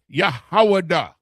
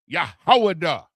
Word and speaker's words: Yahwadah: That word, H3063, is Yahwadah. Yahwadah. Yahwadah. The Yah, the Ha, the Wa, the Da, the Ha. Yahwadah is the transliteration, right?